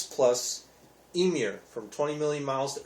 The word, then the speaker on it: Ymir: all the way around emir is spelled ymir so you might think it's uh yummier but it's pronounced emir so um but very